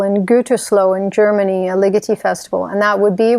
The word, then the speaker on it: Ligeti: I certainly think about your work with Ligeti, whose name I always fear I'm mispronouncing because I've heard it both ways. And I've been lectured with equal conviction about Ligeti or Ligeti.